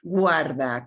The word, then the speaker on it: guarda: Guarda, keep this thing, guarda. Okay, Guarda. so I'm going to have you, and we pronounce all Guarda. of these letters, we pronounce all of these vowels.